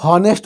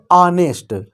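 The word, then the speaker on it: honest: हैं ऑनेस्ट और एमएलए, पहले तो लोग इसमें उच्चारण ही गलत करते हैं, इसे हॉनेस्ट बोलते हैं, जबकि ये गलत है। इसे पढ़ा जाता है ऑनेस्ट, ये ऑनेस्ट।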